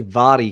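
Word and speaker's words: Mhairi: It's actually Vari Cleland. I I've been calling her Mari Cleland for since I've ever met her, but she's never corrected me. Vari. Vari, but it's it's spelled like Mari.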